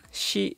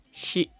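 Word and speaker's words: し: ko ketiga kelompok Sa kita harus perhatikan bunyi huruf i di kelompok ini bunyinya sa SII su se so Kalau ditulis dalam alfabet bunyi huruf i-nya ditambah ha jadi syi keempat kelompok ta kita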